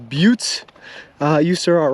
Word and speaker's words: Butte: I just Googled it and the pronunciation is pronounced Butte uh you sir are wrong all right all right I will concede I will continue to call them butts um just for UT I know it's pronounced